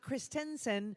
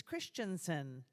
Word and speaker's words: Christensen: one of the students it's not Christensen it's Christensen and I've been saying the name wrong all day so thanks for